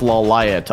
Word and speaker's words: Lawliet: loud oh but it's i heard it's actually pronounced la light on the show so i just never watched